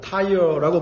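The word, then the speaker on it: Tyre: 타이어라고 발음하죠.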